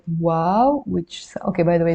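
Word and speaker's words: واو: and finally we have the letter wow the name of the letter is wow and the sound is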